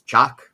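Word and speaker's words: Chaac: But um the the uh the rain god is called uh excuse me if I mis mispronounce it, but it's uh it's chock. Ch a a c.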